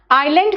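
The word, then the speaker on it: island: आइलैंड कहते हैं बेटा, एस वहां साइलेंट है, ठीक है।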